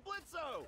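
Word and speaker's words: Blitzø: hey that sounds like blitzo the O is silent hey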